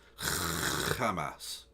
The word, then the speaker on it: Hamas: on this panel cuz none of them have pronounced it correctly it's Hamas and none of them